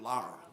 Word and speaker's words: Laura: And the other is my grandmother's name is Laura. And like Leadbelly pronounced it Lara.